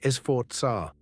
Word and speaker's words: Sforza: Italians say Sforza. A Z in Italian sounds like TS, give it a go.